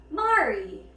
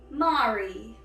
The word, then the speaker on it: Mari: faction, and that is Mari. Mari. It's like how the Canadians say sorry.